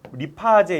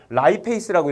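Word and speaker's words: lipase: 분해하는 효소라고 그래서 페이스라고 리파제 이렇게 했었어요 차에는 리 리파라 했었는데 이걸 영어로 라이 페이스라고 읽거든요 예 그래서 옛날에 리파 아재라고 아시는 분이 있고 라이 페이스라고 요번에 바뀌었어요 그니까 라이 페이스로 갑시다 라이 페이스가 나와요 라이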